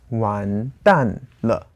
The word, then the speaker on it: 完蛋了: So that's 完蛋了. 2-4. Exactly.